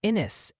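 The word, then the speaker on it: Ennis: A few folks are politely suggesting it's pronounced inis and navaro down Texas way.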